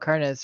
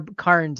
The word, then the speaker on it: Kearns: also corrected me because I've been pronouncing it Bob carness for a long time and he's like also it's more Karns and not not Carnes and like okay got